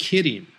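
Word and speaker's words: 麒麟: By the way, in Japanese, the word qilin is pronounced kirin, just like the bear.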